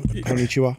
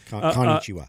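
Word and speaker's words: こんにちは: Konnichiwa. Yeah, yeah. I said it wrong though. Konnichiwa.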